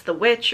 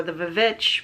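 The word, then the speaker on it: The VVitch: it and I said it's the witch or the vich whichever way you want to pronounce it with Anya Taylor joy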